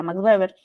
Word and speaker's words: Max Weber: Max Weber se escribe Max Weber pero se pronuncia maxber e que dice la burocracia es el poder